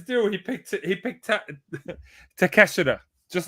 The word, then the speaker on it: Takeshita: Yeah, Takeshita. I'm not gonna say it like Eddie. What is it? The other guy says it. Take a shitter.